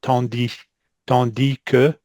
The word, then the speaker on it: tandis que: You see the first line here, and what surprises me is he's pronouncing the S on tandis que.